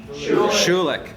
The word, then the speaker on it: Schulich: So we want to thank everyone that's in attendance from the Kellogg WHU program with, is it Schulich or Schulich? Schulich. Okay, that's what I thought. So proper German pronunciation from the Schulich School of Business at York University.